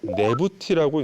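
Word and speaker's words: Nebty: 이 두 개의 글자를 네부티라고 읽는데 두 여주인이라는 뜻입니다.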